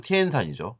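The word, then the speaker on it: 天山: 아까 천산 산맥했던 천산을 이제 중국어 발음은 티엔산이죠.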